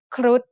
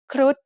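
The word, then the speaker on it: ครุฑ: ค ร ุ ฑ is said with a high tone because of the rule low-class consonants with dead syllables and short vowels make a high tone.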